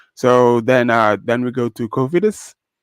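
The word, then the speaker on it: Cofidis: So then we go to Covidus for finally pronouncing it right because for the longest time I was saying confidence.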